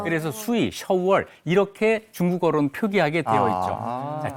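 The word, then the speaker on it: 首尔: 수도라는 말을 뜻을 살면서 발음도 중국말로 샤월 이렇게 하게 됩니다 그래서 수위 shour 이렇게 중국어로는 표기하게 되어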